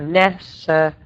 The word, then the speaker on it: necessary: So the double stress are on the first syllable. So necessary.